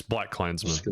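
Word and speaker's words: BlacKkKlansman: Is that how it's pronounced? Yes, Black Klansman.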